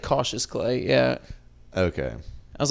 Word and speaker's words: Cautious Clay: Yeah, it's like cautious clay.